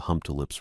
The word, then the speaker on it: Humptulips: along the Humptulips River, which was one of those names I'd been pronouncing wrong in my head for years until I heard someone say it out loud at the district office. Hump tulips. Not how I'd been saying it.